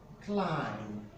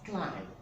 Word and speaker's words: climb: so it is pronounced as a climb it's pronounced as climb as climb now let's look at the number in